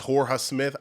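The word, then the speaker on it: Jorja Smith: actually pronounced Georgia Smith I don't know if the Jay's um on some Spanish stuff where the Jay is silent it's Horus Smith I don't know I'm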